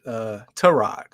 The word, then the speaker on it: Tyrod: We have, so a lot of us pronounce it Tyrod Taylor. I was just watching a Baker Mayfield press conference the other day. I think he pronounced it Tyrod or T-Rod or something different.